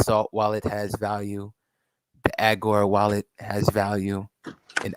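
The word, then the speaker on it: Augur: would say the salt wallet has value the agora while it has value and agor is spelled a u g u r wallet wallet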